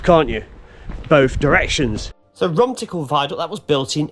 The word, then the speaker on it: Rumtickle: The viaduct proudly spans the valley of the River Don, and it is spelt in such a way as Romtickle, Romtickle and Romtickle, as seems to be more common.